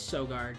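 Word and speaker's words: Søgaard: sure this is so guard yeah it is so guard okay just double checking and I was saying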